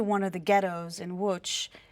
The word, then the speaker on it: Łódź: In Poland, and what he was able to do was they broke into one of the ghettos in Łódź. It's spelled Lodz, but Łódź, and saved about 50 families.